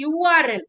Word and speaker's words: URL: pronounced tell me h no it is not a RL it is URL the sound is again U coming from why so it is